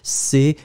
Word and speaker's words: crois: So je crois, C-R-O-I-S. Je crois, final S not pronounced.